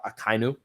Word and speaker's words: Akainu: he was told by Akainu, right? That's how you say his name, which is the admiral that has the lava fruit, I guess is what it is, or the plume fruit.